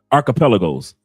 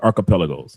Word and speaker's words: archipelago: The par I'm pronouncing it. I know I'm tearing up the term, but archipelos. Thank you very much, brother. Archipelago.